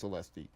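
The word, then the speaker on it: Celeste: I think it's pronounced Celesti.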